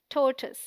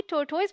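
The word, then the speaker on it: tortoise: यह wrong pronunciation है टी ओ आर इज the stressed syllable rhyming with more T ओ आई एस E sounds like टस a short you sound so the right pronunciation is टोटस क्या आप भी टोटोज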